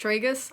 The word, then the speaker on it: tragus: and I've just realised that it should be pronounced tragus I'm what it's doing good it's not red